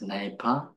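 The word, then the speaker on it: གནས་པ: So the first one, which is pronounced nepa, or tranquility, it means both abiding or dwelling in a particular state of mind.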